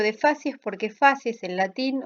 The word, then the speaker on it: facies: Se la llama aparente o de facies porque facies en latín, o si lo quieren pronunciar como corresponde en latín clásico, es facies, facies, no confundir con otras palabras en otro idioma.